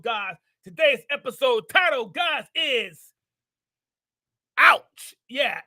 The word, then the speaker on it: ay: Yeah, it's universal. Yeah, it's universal. It crosses borders. In Spanish, it's pronounced I, A-Y.